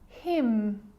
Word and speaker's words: hymn: It's important because when I'm explaining the silent letter N, it actually is silent when it's next to M. Confusing, huh? Let's look at some examples. Damn. Like, damn it. Damn. Autumn. Autumn. Hymn.